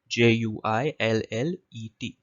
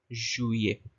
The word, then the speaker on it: juillet: So you can see she's come to the board and she's written Juillet. That's the spelling of juillet. The LL is silent.